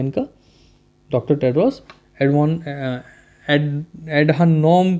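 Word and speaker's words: Adhanom: वो है doctor Tedros advance नाम है इनका, डॉक्टर टेड्रोस एडवान एडहानोम करके नाम है, प्रोनाउंसिएशन में दिक्कत होती है, एडोनॉम है, ठीक है, डॉक्टर टेड्रोस एडोनॉम नाम है इनका।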